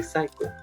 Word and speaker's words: psycho: all the words but many of the words uh with a ps beginning you don't say the letter you don't pronounce the letter p you just say psycho so psycho is someone